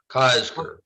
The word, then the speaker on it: Kosker: It's like Oscar with a K, Kosker.